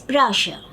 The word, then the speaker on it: brochure: If you remember, BROCHURE, it is pronounced as brochure. Again, the CH is pronounced as sh.